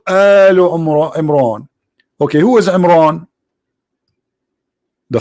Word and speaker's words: Imran: of mooses and Mohammed II even pronounce the name wrong because it's a home ROM Imran it is a mom which means the last